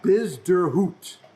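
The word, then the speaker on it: Bezuidenhout: European Tour people and said hey I just pronounced Christians last name and I get bizz der hoot yes busy route which is South African and kids got an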